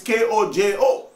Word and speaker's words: Kojo: The modernized version is K-O-J-O. And check the ancient one. Where is the similarity? But it's still pronounced the same name, Kwajo or Kojo.